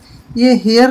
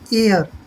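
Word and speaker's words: heir: आई आई ओ यू अगर हा के बाद कोई ए जाता है तो वह कैसे बोला जाता है जैसे हेयर नहीं बोलेंगे हम इसको हेयर बिल्कुल नहीं बोलना है साइलेंट रहेगा यह बनेगा हमारा और और होता है उत्तराधिकारी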